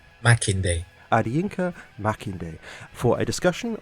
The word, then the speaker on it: Makinde: Go on, tell me again how it's pronounced. Makinde.